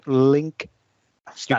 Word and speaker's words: Linkstyle: Then there was an article from Martin Link. Style. You can pronounce that. Linkstyle. That's a Dutch way of pronouncing it. Yes, it is, because he is Dutch.